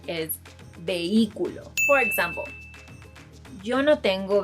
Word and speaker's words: vehículo: Another word is, if you're thinking of the pronunciation is vehículo, then I'm sorry to tell you, but you're wrong. The correct pronunciation is vehículo.